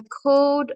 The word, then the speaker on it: called: Last night I called my father. Last night I called my father. Good. Remember, the E is silent in the past. You don't pronounce the E.